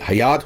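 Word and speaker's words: Hyatt: जे Pritzker के बेटे का मिडिल नेम था हायत जिसके ऊपर इस होटल का नाम रखा गया। इस चेन का नाम रखा गया। इसलिए इसको प्रोनाउंस जो है वो हायत करते हैं। हयात नहीं करते।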